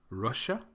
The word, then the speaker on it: Russia: You may have noticed that the last 2, Brazil and Japan, have the stress on the second syllable, whereas the first 3, Russia, Thailand, and China, have the stress on the first syllable.